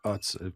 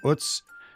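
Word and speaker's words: Utz: recently about UTS I I've pronounced it wrong on this podcast in the past it's not UTS I've learned it's UTS and that is a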